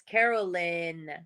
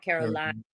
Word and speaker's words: Carolyn: those who don't know since it's spelled YN it's Caroline not Caroline ah Caroline all right